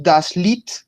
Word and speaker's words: Lied: Luego el diptongo IE solamente suena la I. Decimos das Lied, la canción.